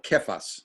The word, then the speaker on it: Cephas: I think he's called this several other times throughout the New Testament, but Cephas is the Aramaic form of Peter, okay, or Kephas, as it would be pronounced back in the day.